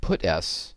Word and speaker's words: puts: I should note that people do pronounce this method puts instead of putS, but it's obviously constructed in analogy with putC, which puts a character.